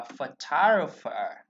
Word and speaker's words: photographer: thầy đem xuống là F, Rồi, tôi sẽ đọc là photographer, photographer, nó có ba thằng ơ luôn này không,